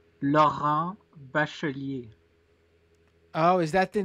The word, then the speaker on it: Laurent Bachelier: You can drag me on my French pronunciation. Let me try again. What is it again? Laurent Bachelier. Laurent Bachelier. Exactly. Well, I was very French there, I feel like. Laurent. Well, yeah, because you English speakers don't know how to pronounce the R's in French.